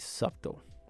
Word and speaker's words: subtle: S U B T L E right subtle. What is like the the correct pronunciation?